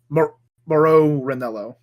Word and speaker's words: Mauro Ranallo: Rennell oh how do you say that because it's spelled in aur Oh Mauro Ranallo oh my god oh the barricade into the